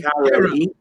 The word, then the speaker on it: Cairo: Yeah, I was in a town the other day that looks like Cairo, right? Cairo, but it's like the syrup.